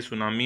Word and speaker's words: tsunami: सुनामी आपको पहले पता होना चाहिए, ये सुनामी है, इसके अंदर टी साइलेंट होता है।